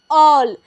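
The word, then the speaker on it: all: क्या है A double L क्या पढ़ेगा इसे ऑल देखिए ए के बाद अंतिम में क्या आया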